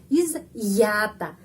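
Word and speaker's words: изъята: disita belah izata izata iz gampang di sini iz terus ada tanda penguat ya di sini stop sebentar is langsung ya ya iz yata ada sudah ada video tentang huruf ya.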